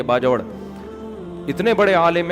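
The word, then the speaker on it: باجوڑ: हमारे जामियत रशीद के एक उस्ताद हैं, मेरे दोस्त भी हैं, उनके सुसर KPK से ताल्लुक है, बाजोड़ से, बाजवड़ का, जिसको बाजवड़ कहते हैं, असल प्रोनाउंसिएशन ये बाजवड़।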